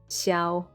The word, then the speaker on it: Xiao: wait what kuching kurching okay then we have xiao xiao and the last one nobody spells his